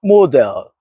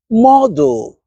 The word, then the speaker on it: model: Many people pronounce the second syllable too strongly. But, listen to the relaxed ending. cancel pencil model towel not council, not pencil, not model, not towel or towel. Again, the ending softens because smooth English speech